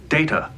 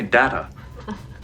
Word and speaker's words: Data: is data my name it is pronounced data oh you called me data what's the difference one is my name the other is not released